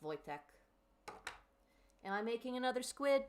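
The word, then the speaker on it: Wojtek: Voytech is how it's pronounced. I believe it. Yeah, it does kind of look like it would be pronounced. Voytech.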